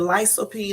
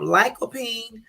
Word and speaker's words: lycopene: I would have said I would have said lysopene or the lycopene but I'm glad I found it on Google because the correct way to say it is like cold P so anyway um lycopene